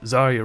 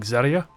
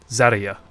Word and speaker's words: Zarya: Which, you know, the emphasis is on the A, not the Zar. Zarya.